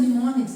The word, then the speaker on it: mnemonics: So these are mnemonics. M is silent over here.